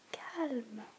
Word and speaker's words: calme: The only difference is the E on the end, and there's obviously the difference in pronunciation, because in French you pronounce this calme, calme, calme.